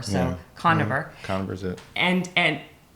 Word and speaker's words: Koniver: south carolina his name is i i always pronounce this wrong and i know i'm going to do it again but dr conover you got it oh i got it good okay i usually say carnivore so conniver connor is it and and and he's uh